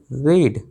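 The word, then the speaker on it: read: इट is time you रीड, रीड, रेड, रेड तीनों form, रीड की spelling एक होती है, प्रोनाउंसिएशन रीड, रेड, रेड होता है दोस्तों, तो ये वर्ब की सेकंड फॉर्म है।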